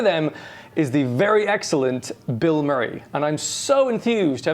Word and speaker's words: BILMURI: conversation goes, oh yeah, they're called Bill Murray. You mean the actor? No, I mean, it's spelled B-I-L.